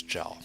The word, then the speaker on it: Zhao: uh Chinese name okay how to say it is today the dead age make a g sound okay so we have a AO so it's jaw okay so Mr Shell